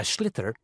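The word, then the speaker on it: sliotar: it looks like and basically you have to get this ball called a schlitter that's s l i o t a r so it's not spelled the way it's pronounced you hit it into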